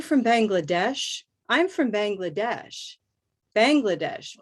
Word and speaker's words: Bangladesh: Bangladesh, Bangladesh. Hard to say. I would say Bangladesh. So bang is definitely going to have a little minor stress.